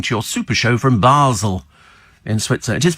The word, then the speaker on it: Basel: Your dedicated Oslo Spikers, Michelle and Roger, listening to your super show from Basel in Switzerland. It is pronounced Basel, isn't it?